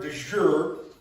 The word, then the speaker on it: de jure: For those that may not know, the word de jure, did I say that right?